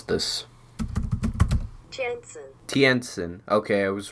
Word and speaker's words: Tientsin: Hold on, let me Google how to pronounce this. Tientsin.